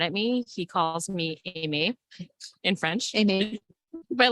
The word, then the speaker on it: Aimée: In France, it's pronounced Aimée, Right. but I was born in the United States. And so it's Aimée, Amy. and it's spelled the French way. So Aimee. I respond to both.